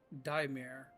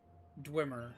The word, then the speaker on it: Dweomer: Pronounced Daimir or Dwemer is an old-fashioned term for a magic spell, an enchantment, or a subtle magic aura that surrounds an enchanted item.